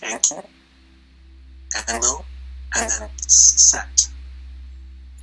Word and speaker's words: Enki: Enki. Yeah, Enki.